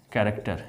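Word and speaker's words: character: अब देखें क्या लिखते हैं, कैरेक्टर, यहाँ देखो CH है लेकिन इसका उच्चारण क हो रहा है।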